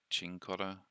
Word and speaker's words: Cincotta: right um so we're getting cincotta I think it's actually pronounced chincotta um as a few people have said but I'm just using